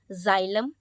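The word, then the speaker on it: xylem: क्या कहता है कि प्रोनाउंस एक्स लाइक जड एट the beginning of a word कभी भी बिगिनिंग में हमारा x आ रहा है तो हम उसको ज की तरह प्रोनाउंस करेंगे ठीक है जैसे कि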